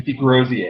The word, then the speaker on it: Desgroseilliers: you say your name some are hard to pronounce so the last name is Degrassi aight i will unlock a defendant if anybody